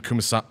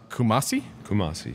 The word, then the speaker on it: Kumasi: in 2004 lived in correct me on this pronouncation restrung lived in Kumasi Kumasi Kumasi and cape coast of Ghana right saying that